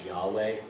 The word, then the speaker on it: Yahweh: The pronunciation of that is you breathing. When you inhale, you make the sound YH. And when you exhale, it's that WH.